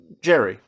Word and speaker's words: Gerry: trying to defend Elbridge Gerry. Or Gary. It's gerrymandering, but his name was actually pronounced Gary, I believe is the thing.